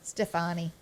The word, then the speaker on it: Stefani: up and coming to gwen stefan is how you say her name stefani stefani molly has volunteered to